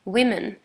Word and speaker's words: women: you should note that the spelling only changes um that the a changes into an e uh but the pronunciation changes much more so you would say women even though it's an o in the beginning we have man one